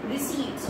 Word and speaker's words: receipts: ये कहना चाहूंगी की ये जो स्पेलिंग है वो ये होती है ओके पट बट हम जब इसे प्रोनाउंस करते हैं तो हम इसके जो पी है वो साइलेंट होता है तो हम इसे क्या बनानास करेंगे रिसिव्स ओके जब हम किसी